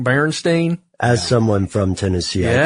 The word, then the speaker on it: Berenstain: there's a song and they don't say Berenstain it's The Berenstein Bears that's how they say it how do you